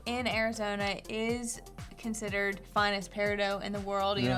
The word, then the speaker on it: peridot: There's some controversy over how to pronounce peridot. Oh, don't say Peridot. Most people in the gem world call this peridot, but you will hear people call it peridot.